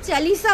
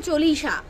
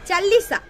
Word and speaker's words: চালিসা: সাতি আর হনুমান চালিসা তো ম্যান্ডি ওটা হনুমান চালিসা হবে হনুমান চল্লিসা এরকমই বলেছিল না চালিসা ঠিক আছে উচ্চারণটা এরকম হবে যাই হোক আমাদের উচ্চারণের মহারানী